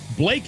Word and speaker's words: Blache: Blake is his last name. University of Tennessee. His last name is spelled Blache, but we pronounce it Blake.